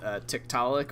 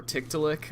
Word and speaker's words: Tiktaalik: people are familiar with tiktalik or tick to lick I believe is how it's supposed to be pronounced it's a it's an